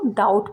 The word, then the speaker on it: doubt: Next है DOUBT, इसको भी अगर हम लेटर बाय लेटर प्रोनाउंस करें तो बोलेंगे डाउट, लेकिन इसको डाउट बोला जाएगा। यहाँ पर बी साइलेंट है।